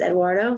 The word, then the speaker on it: Eduardo: Granted, I am not perfect, so I kept calling him Edward the other day. His actual name is Eduardo, so.